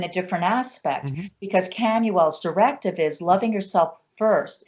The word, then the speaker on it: Chamuel: But one of the angels I work with is Camuel, Chamuel. Many people pronounce Shamael, but Camuel, heart chakra, angel of self-love.